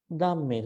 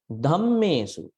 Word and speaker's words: dhammesu: Now, when many people pronounce this part, they say dhammesu, dhammesu, dhammesu. That is incorrect, not dhammesu. It should be dhammesu, DH. You can see that. Dhammesu. See, aspirate. Aspirate.